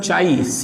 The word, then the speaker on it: chi: It is pronunciated by term chi, chi, chi.